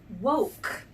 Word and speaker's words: woke: got it II woke the silent e makes the oh say oh you don't say the e at the end when you sound it out but you know it's there because it's making the oh say it so named